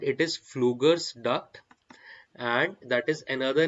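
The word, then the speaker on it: Pflüger: for stried duct okay p is silent it is fluger duct and that is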